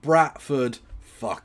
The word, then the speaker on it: Bradford: loud and clear, it's pronounced Bratford. yes. Yorkshire is brat.